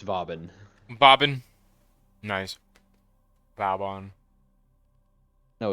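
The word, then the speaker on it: Vauban: convince his name was voban which like that's technically the correct phonetic pronunciation of it because it's a it's a playoff of a French word for Fortress but I don't care it's bobin bobin nice bon no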